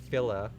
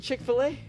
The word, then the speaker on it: Chick-fil-A: And I had Fil-A. Is that how I pronounce it? Chick-fil-A. Is it Chick-fil-A?